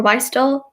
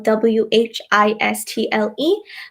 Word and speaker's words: whistle: ballot they basse-bolle Mohnish multiplier whistle or why stall because it's Bell WH is T le but it's actually whistle also a chase I